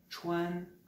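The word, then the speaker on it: 川: a déjà entendu de sa prononciation puisqu'il se prononce shwan là les dix ans dans ça me direz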